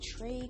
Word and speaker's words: Trae: The liberal redneck, Trey Crowder, I believe is the name. Trae is how the first name is spelled. I'm pretty sure it's Trey, Trae.